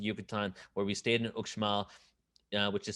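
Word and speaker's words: Uxmal: down to the yucatan where we stayed in ukmal which is spelled u x u-x-m-a-l which is an hour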